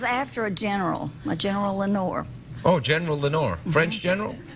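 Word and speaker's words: Lenoir: mhm what's it called Lenor Lenor mhm like in the PO like in yeah the Raven Lenor it's not spelled the same way it's French it's French mhm the French have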